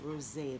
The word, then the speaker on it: rosé: and we're talking about Rose a and it's not rose it's pronounced Rose a there's an accent on the E and in countries like